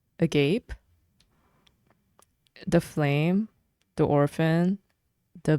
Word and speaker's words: agape: I believe this is pronounced agape, the flame, the orphan, the village.